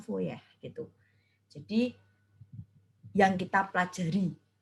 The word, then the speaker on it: Fourier: deret fourier dan transformasi fourier Nah itu tulisannya kurir ya itu bahasa Perancis Kebanyakan orang badannya fourier gitu sesuai dengan Bahasa Indonesia tetapi itu kalau dalam bahasa Perancis bacanya foya itu jadi yang kita